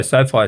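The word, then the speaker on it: SoFi: get our logo on the sofa is it so far is that the way you pronounce it stadium yeah we were so so far stadium for those who don't know again uh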